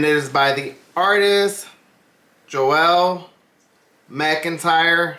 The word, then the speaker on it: Joelle: is by the artist Joelle McIntyre I want to say the pronunciation is probably Joel but it's spelled j